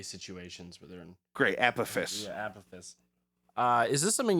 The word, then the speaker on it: Apophis: Apophis, I think is how you say that, or Apophis, the god of chaos asteroid, is speeding up, increasing the likelihood of it hitting Earth in 2068.